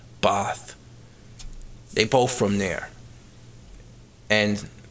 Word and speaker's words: Bath: It's spelt like Bath, but you pronounce it like Bath.